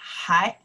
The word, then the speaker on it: 还: When we say hǎi, it's a still. Okay, hǎi, 还学中文. Hǎi, by itself, we pronounce hǎi.